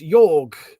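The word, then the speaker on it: Jörg: well he's um no he's German so it's yorg I think he pronounces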